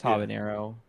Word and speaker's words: habanero: You don't put an enye in that. It's just habanero.